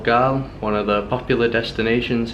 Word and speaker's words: Galle: in a place called gaol one of the popular destinations here in Sri Lanka I think the locals pronounce it gala something like that we came here from